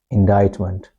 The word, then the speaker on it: indictment: So this act is called indictment. Indictment. And never forget to pronounce it as t.